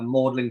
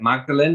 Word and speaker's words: Magdalen: marlabone um there's there's in Oxford we have modeling College which looks like it's pronounced like Magdalene like Mary Magdalene um so I've just